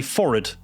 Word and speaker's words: forehead: For some reason, after the word for, the vowel after it is kind of pronounced lazily. Like instead of forehead, you would say forehead.